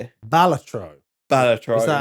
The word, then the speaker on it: Balatro: Balatro.